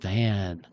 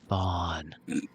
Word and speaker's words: Von: Some people might mispronounce it, Van. But Vaughn.